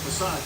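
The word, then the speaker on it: façade: I mean, facade, Ken. But it's spelled facade. Yes, it is.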